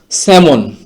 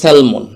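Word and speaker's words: salmon: তারপরের শব্দটি হচ্ছে স্যামন। এটা স্বাভাবিকভাবে উচ্চারণ করতে গেলে এটার উচ্চারণটা হবে সেলমন।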